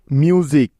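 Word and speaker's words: music: এস আই সি মিউজিক লক্ষ্য করে দেখো এই শব্দে এস এর আগে একটা ভাওয়েল ইউ আছে এবং এস এর পরে একটা ভাওয়েল আই আছে সেজন্য এস এর উচ্চারণ এখানে জ এর মত হচ্ছে ঠিক আছে মিউজিক আরো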